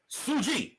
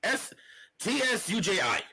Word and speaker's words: Tsuji: Sushi or Suji? Suji. Tsuji. Oh.